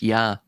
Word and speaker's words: Ea: It's also pronounced Yah by the way in Aadian. The EA is pronounced Yah.